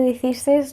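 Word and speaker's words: шестнадцать: La D en esta situación desaparece. Yo no digo snatch, ni siquiera suena la D.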